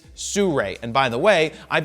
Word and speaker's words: Sirui: It's Sirui. Sirui. Everybody say it with me now. Sirui. It's not some other pronunciation, it's Sirui.